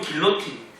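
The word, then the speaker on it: guillotine: 처음에는 그런 의미가 아니고, 영어로는 길로틴, 그리고 프랑스어로 보면은 기로요틴이라는 부르는 그런 단두대가 있는데, 이 프랑스의 외과 의사였던 조제프 기요땡이라는 사람이, 뒤에 우리식 발음 기요땡이에요.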